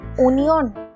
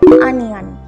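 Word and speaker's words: onion: ইংরেজিতে কি বলা হয় অনিয়ন অনিয়ন পেঁয়াজকে ইংরেজিতে বলা হয় আনিয়ন আনিয়ন দেখো স্পেলিং এ ও থাকলেও উচ্চারণটা হবে আনিয়ন ওকে নেক্সট ওয়ার্ড হচ্ছে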